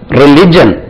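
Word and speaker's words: religion: ஒரு பக்கத்தில் இருக்கு அடுத்தபடியாக ரிலிஜியன் பாருங்களேன் ரிலிஜியன் என் R will I ஜி ஐ ஓ என் இதை பாருங்க இதுக்கு ரிலிஜியன் எங்கிருந்து வந்தது ரிலிஜியன் ரிலிஜியன் எல் மேல ஸ்ட்ரெஸ் ரிலிஜியன் ரிலிஜியன் பாருங்க அதே மாதிரி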